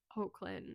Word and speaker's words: Hoechlin: But the lead in this movie, the lead male, is actually Tyler Hoechlin. I can never pronounce.